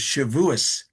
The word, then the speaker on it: Shavuos: the holiday of Shavuot, which in the Ashkenazic pronunciation is Shavuos. You may have heard that term. Oh, we're going to celebrate Shavuos this week. It's the same word, except with an Ashkenazi twang instead of the Sephardic pronunciation.